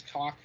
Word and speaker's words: Koch: Because, okay, Deep Silver / Koch Media, not Coke. It has nothing to do with the Koch brothers. Okay, like it's not even pronounced that. It's I believe the German pronunciation is Koch Media.